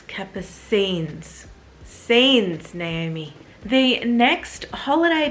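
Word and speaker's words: Capucines: is the raffia capacines I'm always wanting to say cappuccines because that's to me how it's spelled but a viewer correcting me and it's Kappa scenes Saints Naomi the next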